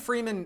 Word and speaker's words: Freeman: right there I think Freeman Freeman Freeman to even you're not pronouncing it correctly free man free man all the emphasis is on the man but they'll basically be